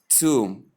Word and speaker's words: tomb: So when you combine them, you have tomb instead of tomb or tomb. So note that tomb is the correct, one and only correct pronunciation.